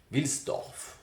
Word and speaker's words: Wilsdorf: pour le compte de Hans Wilsdorf, c'est pas évident à prononcer, mais il faut prononcer toutes les lettres, qui n'est autre que le créateur de Rolex, ça vous le saviez je pense.